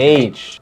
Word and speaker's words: Aitch: Aitch? H, right? Like Aitch.